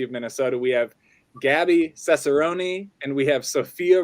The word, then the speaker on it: Cesarone: We have Gabbie Cesarone and we have Sophia Romine, both here.